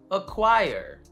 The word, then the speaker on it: acquire: Silent C, for example, acquire. We don't really need it because the Q does all the job here.